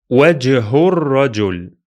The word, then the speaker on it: وجه الرجل: So it will be pronounced as if the two words are written like one. Let me read it for you. وجه الرجل.